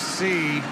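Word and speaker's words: Sy: It's pronounced C.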